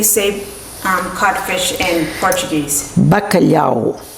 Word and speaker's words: bacalhau: how do you save um cfish in Portuguese bakalo how do you say codfish in Italian bakala